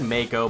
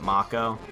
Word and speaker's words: Mako: I always said Mako, but I think some people pronounce it Macco. I'm not really sure.